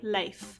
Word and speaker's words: Leif: let's talk about our sweet little sloth boy leif that's right you heard me correctly that is how the name l-e-i-f is actually pronounced but i'm not gonna stop calling him leaf and if you keep calling him leaf i'm